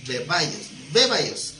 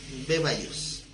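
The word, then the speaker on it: βέβαιος: Como bebé, beba y os, bebaios, porque tiene acento en la E, bebaios.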